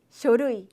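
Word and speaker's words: 書類: 그 다음에 서류라는 표현은 어떻게 발음이 된다고요? 그렇죠. 쇼루이.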